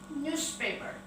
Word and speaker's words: newspaper: The first, newspaper. Newspaper. Jadi NEWS di depan ini dibaca news, berubah menjadi U, news, dengan NYU, news, tambah dengan paper, newspaper.